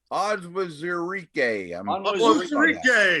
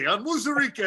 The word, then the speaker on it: Onwuzurike: Another difficult pronunciation. A lot of vowels here. Levi Onwuzurike. Onwuzurike. I worked on this one. Onwuzurike.